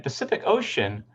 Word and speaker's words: Pacific Ocean: In Pacific Ocean, all of the three C's are pronounced differently. We have S here and K here and Sh here.